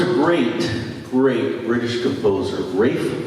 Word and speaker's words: Ralph: great great british composer rafe von williams looks like ralph he pronounced it rape born in 1872 and